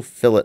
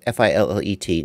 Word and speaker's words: fillet: It's called F-I-L-L-E-T, not fillet, fillet. That's how they say it.